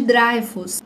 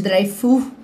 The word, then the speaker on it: Dreyfus: francês pelo caso do Alfred Dryfus, Alfred Difu, né? depende da pronúncia que você vai utilizar, que foi um homem